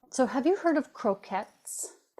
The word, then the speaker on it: croquette: So, have you heard of croquettes? I'm probably pronouncing it wrong, maybe, but I thought otherwise it would be croquet, which doesn't sound right for food. It's a French Yeah. word, croquette.